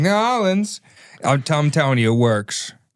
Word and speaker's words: New Orleans: little heads up, Connor, it is not New Orleans. It's not like you're leaning. It's New Orleans. Or it's like Mike said, Nolans. That's the Midwest pronunciation. The Utah pronunciation is New Orleans. No, it's simply Nolans. That's what you have to say.